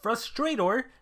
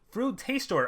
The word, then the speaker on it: Frutastor: two monsters we have frustrator this is going to be actually wait fruit taste store oh i've been saying his name wrong the whole time so it's literally like fruit taster he tastes fruits uh this is gonna